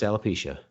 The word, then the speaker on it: alopecia: It's pronounced alopecia.